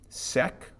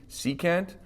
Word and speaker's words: secant: We wouldn't call this like sec or something. This is secant.